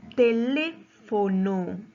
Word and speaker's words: teléfono: En la palabra teléfono. Teléfono. ¿Cuántas sílabas tiene esa palabra? Tiene 4 sílabas, ¿verdad? Entonces, su mayor fuerza de voz, ¿dónde recae? En la antepenúltima sílaba.